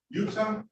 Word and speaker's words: Huerta: All right, the person with their hand up, Martina Utah. You don't pronounce the H, correct? That is correct. The H is silent.